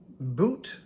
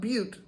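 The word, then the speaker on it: Bute: this is the Baileys from boot it's not Butte like not Butte Montana because that's a Double T and this is b-u-t-e still may be pronounced in Butte I don't know but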